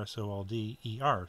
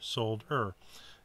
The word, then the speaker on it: solder: Solder is really the correct way to say it because it's sold. The word sold, like I sold my car, S-O-L-D-E-R, solder, not solder.